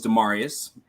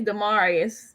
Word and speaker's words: Demarius: Well, hey everyone, my name is Demarius. Long A's and Latin pronunciations. Okay, Demarius.